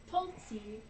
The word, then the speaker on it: Tulsi: Tulsi, Tulsi. like the tea.